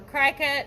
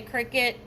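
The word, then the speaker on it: Cricut: a cricket machine or cry cut or however you pronounce it i think most people say cricket to me looks like cry-cut but anyway got me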